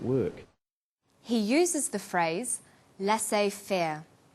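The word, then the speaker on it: laissez-faire: He uses the phrase lass fair. Lassay fair is a borrowing from French. It closely reflects the pronunciation of the original language and the original spelling.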